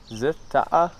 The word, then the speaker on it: Dzil Ta'ah: How do I pronounce that? Dzil. Dzil translates as mountain, and as base of some mountain-based adventures. Dzil Ta'ah?